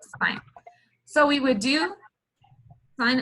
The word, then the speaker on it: sin: So it looks like it's sin and it's pronounced sine.